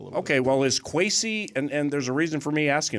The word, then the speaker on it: Kwesi: It's sometimes spelled with an A in Ghanaian culture. Really? So the E, I could see that throwing people off a little bit. Okay, well, is Kwesi, and there's a reason